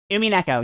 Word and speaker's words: Umineko: likes Higurashi and especially Umineko. Is that how you pronounce it? Umineko, yeah.